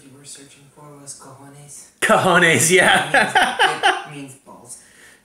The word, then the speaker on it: cojones: I think the word you were searching for was cojones. Cojones, yeah. It means balls. Yeah. Well, that's not how it's spelled, but I believe it.